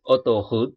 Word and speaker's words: autoroute: Untuk huruf A dan U, E, A, U, dan huruf O, ini semua dibaca O. Oke. Sekali lagi, A dan U, E, A, U, atau O, itu semua bacanya sama, dibunyikan dengan O.